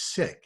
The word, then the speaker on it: Sikh: our communities to connect the correct pronunciation is sick so you'll help me